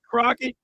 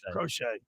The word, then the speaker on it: Crochet: Garrett Crockett, I don't know too much about him. Yeah, we need to get you a pronunciation guide, buddy. Crochet. I realized when I said it.